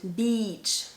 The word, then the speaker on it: beach: the e okay so the first one to go to the beach is a long e sound beach beach okay i'm exaggerating